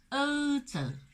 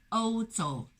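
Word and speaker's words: 欧洲: 呢，就是欧洲。各位一定要注意口型不要收圆，如果读成了欧洲就怪了。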